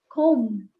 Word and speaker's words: comb: b is not voiced the b is generally not voiced how do we say that how do we say that word it's a comb it's just a comb so the bar is silent right so these are the